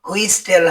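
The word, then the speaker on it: whistle: ডাবলিউ এইচ আই এসটি এলই এর উচ্চারণ হুইসল হবে না।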